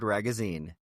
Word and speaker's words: Ragozzine: Our guest today is Ragazine. as in rhymes with magazine. Ragazine.